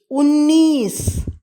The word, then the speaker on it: उन्नीस: 19 19, उन्नीस उन्नीस. ஊ இன் நீச, உன்னீஸ். இந்த 2 நாவும் சேரும் பொழுது பல பேர் இதை த்ரா என்று நினைத்து கொண்டு விடுவார்கள். அப்படியல்ல, இது பாதினா முழுனா போட்டு எழுத வேண்டும்.